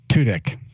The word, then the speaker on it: Tudyk: Alan Tudyk. It's like Dick.